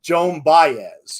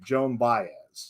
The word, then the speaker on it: Baez: i know i should double check how to pronounce them but i'm always in a rush doing this research so it's joan baez yes thank you joan baez yes thank you thank you berkshire valley forage